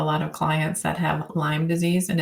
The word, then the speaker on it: Lyme disease: I have a lot of clients that have Lyme disease and it's serious. But as soon as they hear somebody say it's Lyme's disease with an S, they're like, you don't even know what I have.